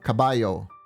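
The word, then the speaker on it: caballo: a really yeah but it pronounced the Double L as a y sound so cabayo cabayo did I say that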